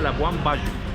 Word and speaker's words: Labuan Bajo: Se escribe Labuan Bajo, se pronuncia Labuan Bajo.